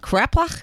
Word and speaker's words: kreplach: Kreplach?